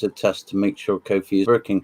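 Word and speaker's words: Ko-fi: not one um and apparently kofi is pronounced to rhyme with nobody oh we're getting grammar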